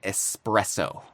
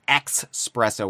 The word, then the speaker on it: espresso: Expresso with an X instead of an S.